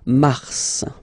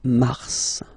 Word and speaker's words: mars: okay then mar okay so in a way it's an exception because normally final S is not pronounced in French okay we've got some exceptions and this one is one of them so Mars pronounce the final S mars mars okay then